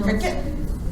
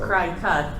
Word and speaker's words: Cricut: How you pronounce those things. Oh, because you are cutting things, right? Yes. So- Cry cut, Yeah. but it looks like cricket.